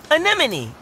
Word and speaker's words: anemone: can that animal's name is fun to say anemone anemone anemone hey I got it great pronunciation Dean whoa their bodies are smooth what